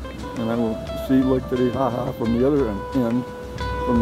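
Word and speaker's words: Titicaca: I was corrected. It is now, it's pronounced Titihaha.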